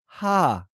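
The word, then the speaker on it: ห้า: And the number 5 in Thailand is pronounced ha. Nang song sam si ha.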